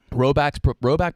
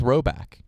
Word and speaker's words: Rhoback: Rowback performance hoodies are quite possibly the softest hoodies you can own when paired with the performance joggers.